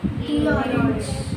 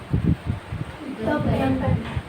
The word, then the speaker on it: the: अब before we start, pay attention to द will be pronounced as दी। कि द को दी कब बोलना है? इफ द next word starts with a vowel sound. जैसे क्या बोलोगे? दी ऑरेंज, द पेन।